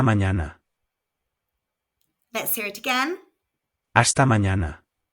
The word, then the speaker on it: hasta mañana: Hasta mañana. Again, we have a silent H and the N has a virgulilla over it, which adds a Y sound after the N.